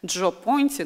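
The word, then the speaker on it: Gio Ponti: И вот прекрасный этот персонаж, этот мужчина, которого вы видите на обложке, значит, Джо Понти, но Джо – это такое, знаете, немножко американизированное сокращение имени Джованни. А Джо Понти, да, пишется Джио, один из крупнейших итальянских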